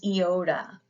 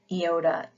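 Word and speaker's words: Iota: you should be using next is eoda and we pronounce this e as in ski ioda e as in ski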